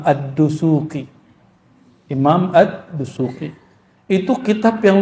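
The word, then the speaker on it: الدسوقي: Orang kita nyebutnya Dasuki. Itu mah orang Padang itu mah. Udasuki. Yang benar bacanya apa? Imam Ad-Dusuki.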